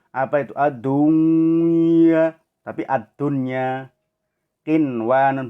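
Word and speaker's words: قنوان: Qinwanun, bukan kiwanun, ya. Tapi qinwanun. sinwanun, bukan siwanun tapi sinwanun.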